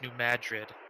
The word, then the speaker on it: New Madrid: Ryan, I believe it's New Madrid. Like New Madrid. New Madrid. Okay. See, like, how do you spell that?